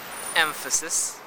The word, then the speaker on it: emphasis: For example, emphasis, where the M in the spelling is actually pronounced as a labiodental nasal instead of Take a look. Emphasis. That means the place of articulation of the nasal becomes labiodental, just like the labiodental F sound.